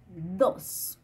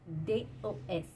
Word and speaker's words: dos: Pour dire le 2, c'est dos. Alors, D-O-S. Dos. Il faut bien prononcer le S final.